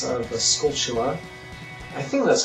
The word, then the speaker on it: Skulltula: I used to say Skulltula, but it then occurred to me years later that the word is obviously supposed to be poking fun at the word tarantula.